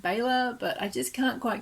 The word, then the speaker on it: Bela: lugosi and yes i do know it's properly pronounced baylor but i just can't quite get my tongue around that i'm so used to calling him bella from when i was a little horror fan